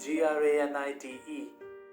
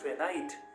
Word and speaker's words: granite: word like g-r-a-n-i-t-e ninety-nine percent of the people in india will mispronounce the word as granite i need some granite for my house in the indian context yes we can get away with it but the exact pronunciation is granite i need some granite